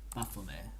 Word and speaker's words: Baphomet: How to pronounce it correctly. Okay. Baphomet. Okay, we'll take that. Baphomet.